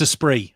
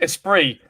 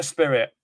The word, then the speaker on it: Esprit: It's pronounced Esprit, all right? It is. Esprit. Thank you for watching Esprit, not a spirit.